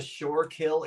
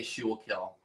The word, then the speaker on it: Schuylkill: You mean the Shorekill Expressway? Oh, I'm guilty of that. I would say Schuylkill. Schuylkill.